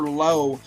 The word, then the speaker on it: Lowe: One is out in Southwest Virginia, Honeacre's Parker Lowe, a freshman. No relation to Brandon Lau, by the way. Spelled the same way, but pronounced differently.